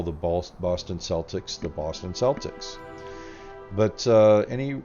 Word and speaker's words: Celtics: Boston Celtics but any self-respecting British person as far as I can tell would not call the Boston Celtics the Boston Celtics they would call them the Boston Celtics and indeed the Celts themselves would call themselves Celts and not sucks so I do believe